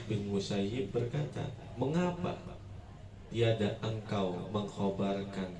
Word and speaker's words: Musayyib: di majelisnya sa bin musayyib kalau orang Madinah bacanya musayyib kalau orang Baghdad bacanya musayab sedangkan dia sendiri enggak suka dipanggil dengan musayab senangnya musayibq aaman maka